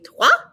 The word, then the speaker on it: toi: going to use a toi that oh i is a pretty um it's often used in french it's the o i wa and so it's notice